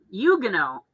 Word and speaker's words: Huguenot: very cool and it's huguenot yuga no you don't pronounce the h and you don't pronounce the t you're gonna oh yeah